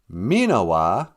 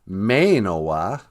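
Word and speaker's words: minawaa: Minawa, sometimes pronounced Minawa. Sometimes if you go on K-Ojibwe website, it's pronounced Mainowa.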